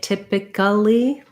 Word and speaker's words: typically: an e o stereo stress on tip typically um and then we don't have we don't usually say typically there's no um syllable there for that that syllable there so typically so it would look like stare e tip ich li so long short short long short short and this is